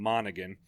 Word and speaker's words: Monaghan: I like his, how do you pronounce his name? Monaghan.